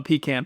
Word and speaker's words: pecan: Uh, I'm a pecan pie guy.